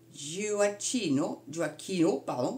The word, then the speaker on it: Gioacchino: Donc ses origines familiales, donc il s'appelait donc Vincenzo, j'essaie de le dire, Vincenzo Gioacchino, c'est comme ça que ça se prononce, Raffaele Luigi Pecci.